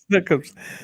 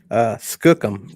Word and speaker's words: skookum: It's not snookums. Skookum. Skookum. Skookum.